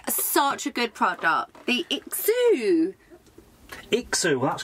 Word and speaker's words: IXOO: be honest is such a good product the exu xu well that's correct you said it right yeah